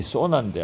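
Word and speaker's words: Soṇa: 49.7 소나라고 되어 있는데 이건 수루나 원래 발음이 쏘나인데 아마 소나가기보다 수루나로 번역을 했네요 자 다시 해봐요 이렇게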